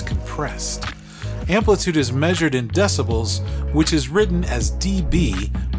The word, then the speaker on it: decibel: It's also weird in its pronunciation since we commonly slur it into decibel instead of decibel.